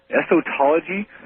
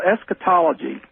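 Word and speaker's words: eschatology: using, how it's spelled, estology. Uh, it's called esquetology. How? And it comes from the root word escaton, which just means the the end of time or the end.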